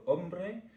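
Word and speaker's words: hombre: Euh mais euh c'est un jeu espagnol puis qui s'écrit H O M R E, c'était ombre.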